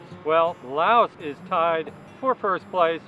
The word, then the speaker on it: Lao: the shortest names well Laos is tied for first place with several other countries but if you pronounce and spell it like they do here Lao for the loud people that's only three letters making Lao the shortest